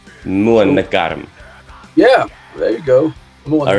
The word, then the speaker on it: Månegarm: As a non-Swedish person myself, is MÅNEGARM close to what it should be, or what's the right way of pronouncing? Yeah, pretty close, I would say. The right way to say it is MÅNEGARM. MÅNEGARM.